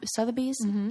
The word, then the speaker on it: Sotheby's: Sotheby's? Yeah. Sotheby's auction.